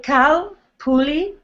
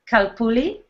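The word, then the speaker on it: Calpulli: Please, how do you pronounce the name of your group? It's very simple. You say Kalpuli, Kalpuli, and then the next part, you can break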